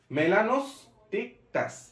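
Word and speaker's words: melanostictus: এরপরটা সহজ, মেলা মেলান ওস টিক টাস, টিকটকের মতো, মেলানোস টিক টাস, মেলানোস টিক টাস, মেলানোস টিক টাস, মেলানোস টিক টাস, মেলানোস টিক টাস।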